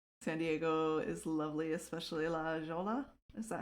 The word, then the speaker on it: La Jolla: Okay, what Cammy said, La Jolla? La Jolla. Usually I'm pretty good with Spanish pronunciation names.